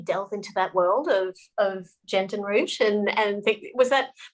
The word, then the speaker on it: gentian: Yeah, my pronunciation is probably slightly dodgy, but it's GENTIAN I-A-N. Oh, sorry. Gentian.